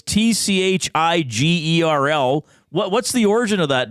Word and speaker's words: Tschigerl: We got Sean Tschigerl checking in.